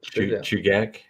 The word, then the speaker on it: Chugach: Chugach. Yeah. Chugach State Park. Is that how it's pronounced?